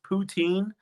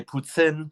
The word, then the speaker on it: poutine: then she pondered on whether it's poutine which i'm still going to say poutine whether pete's agrees with the way i say it or not i'm not really bothered what he thinks when he has never you know what mike settle down um but i'm never gonna say putin uh and i think